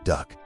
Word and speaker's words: DUKW: DUKW, pronounced duck.